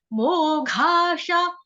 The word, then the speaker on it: मोघाशा: मोघाशा, म ओ मो, ओ की मात्रा स्वर यहाँ पे दीर्घ है, घ घर घड़े वाला, ठीक है, घड़े वाला, घोड़े वाला, घड़ी वाला, घ। मोघाशा मोघ कर्माणो मोघ ज्ञाना विचेतसः।